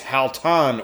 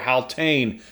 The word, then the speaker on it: Haltane: It is Haltan or Haltane, however you want to pronounce it.